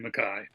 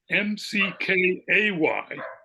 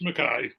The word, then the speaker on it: McKay: made a joke about how everyone mispronounces her name because it looks like it should be McKay but nope it's Makai that's what it sounds like fun yeah how should